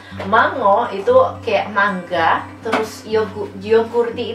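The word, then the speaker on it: jogurtti: Mango itu kayak mangga, terus yogurti itu tulisannya J gini tapi bacanya Y.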